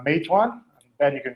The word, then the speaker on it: Meituan: And they've invested in Uber, in Swivel, e-commerce platforms in Asia like Meituan. Ben, you can correct me on the pronunciation of that.